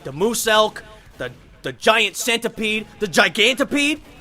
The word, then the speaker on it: Muselk: It's pronounced moose-elk, like moose-elk. So it's like a moose and an elk together, like the ultimate deer hybrid?